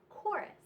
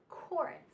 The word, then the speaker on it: chorus: CH special sound but it's pronounced with just the C Sound and the H is silent in chorus chorus now here we have